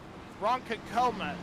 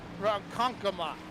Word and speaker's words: Ronkonkoma: Ronkonkoma, excuse me, not Ronkonkoma. Where did I get that at? You know, being from Oklahoma, I should be able to pronounce that. Ronkonkoma. There we go.